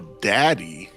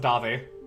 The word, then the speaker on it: Davi: See, you follow Daddy. No, it's pronounced Davi.